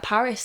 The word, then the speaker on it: PVRIS: I mean, he was literally like, oh, Ghost and Me sounds like Paris. Like, it really sounds like Paris.